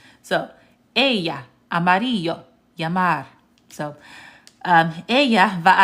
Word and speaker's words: ella: So instead of saying Ella, Amarillo, and Lamar, it's actually pronounced ella, amarillo, llamar. Okay? Anytime you see two L's, it's pronounced like the y sound, like a Y.